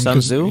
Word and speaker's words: Sun Tzu: I always get his name wrong. Sun Tzu?